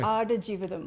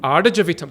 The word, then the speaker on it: Aadujeevitham: Did I say it right? No. I think it's slower. I think it's Okay. Aadujeevitham. Aadujeevitham.